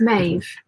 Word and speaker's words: Maeve: Maeve rhymes with wave. Ah, okay. So it's Maeve, But you can call me.